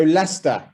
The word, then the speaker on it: Leicester: cool so um so lester as i said pronounced leicester yeah so a really convenient